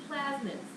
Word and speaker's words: plasmid: You also have plasmids. P-L-A-S-M-I-D. Not plasma, but plasmid.